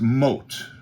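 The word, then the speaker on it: מוט: But my point in this whole conversation is that the word moved, the Hebrew word originally for that, word was originally pronounced mot, and what that means, to totter, shake, slip, be moved.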